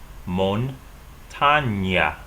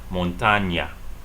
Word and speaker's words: montaña: So we have a regular N, and then we have an NA. This is called, this is called NA. The letter is named NA, and this letter is called NY, montaña.